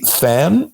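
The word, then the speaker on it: tanh: So historically, than, it's written tan-h, but pronounced than for some reason, probably because tan-h is 2 syllables, has been a popular activation function.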